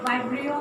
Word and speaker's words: Vibrio: Okay, so Vibrio, many people say like Vibrio, or but then like correct pronunciation is Vibrio.